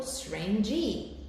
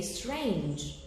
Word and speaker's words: strange: But the final E here, the final E is not pronounced. So you don't say, for example, strange E. You say strange.